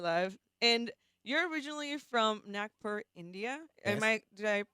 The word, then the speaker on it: Nagpur: And you're originally from Nagpur, India. Yes, Did I pronounce it that's correctly?